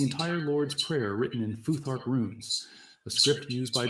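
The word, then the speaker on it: Futhark: Foothark, like phthales. You pronounce that foothark.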